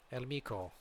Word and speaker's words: El Mico: of the ICBBL guys, like El Mico, apparently is how you say it, by the way.